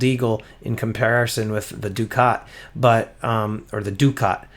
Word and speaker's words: ducat: um some people are saying you know it's duck it i'm saying it's ducat in one of my other videos when i first revealed it i did say duck it but um it's pronounced ducat so everybody say it with me ducat anyway